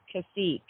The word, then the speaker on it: Tkacik: It's actually pronounced Kasik. The T is silent.